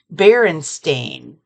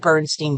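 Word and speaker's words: Berenstain: doesn't seem it's pron it's baren stain baren stain bears I've always said bernsteen bears and I'm going to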